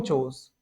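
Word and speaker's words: chores: बोलूंगा आई डू होम चूज होम मतलब क्या होता है घर के और चूज मतलब क्या होता है काम का यहां पे हमारा क्या साइलेंट है आर साइलेंट है सॉरी आर साइलेंट है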